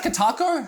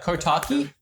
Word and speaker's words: Kotaku: Is it Kotaku? How am I ever saying it right? Kotaku, yeah. Kotaki?